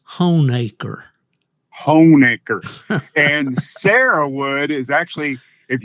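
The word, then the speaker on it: Honaker: If you are a native of Southwest Virginia, that is Honecker.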